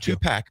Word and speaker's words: Tupac: Or more modern Tupac if you would. Not Tupac but Tupac.